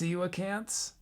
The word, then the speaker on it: coelacanth: Oh, they're pronounced coelacanths. So horribly mispronounced them.